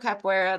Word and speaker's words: capoeira: I knew the word cappuccino is actually, that's how I made the association, and that's how I was able to remember. That's right, But Victorious cappuccino, capoeira, that's how you say it.